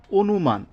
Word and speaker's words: অনুমান: যে আদ্য অ এর পরে যদি রসই দীর্ঘই রস দীর্ঘ এই চারটি বর্ণ বা এদের কার চিহ্ন থাকে তাহলে অ এর উচ্চারণ ও এর মত হবে যেমন উদাহরণ অনুমান হ্যাঁ এটার কেমন হবে উচ্চারণটা কেমন হবে অনুমান অর্থাৎ এই আদ্য অ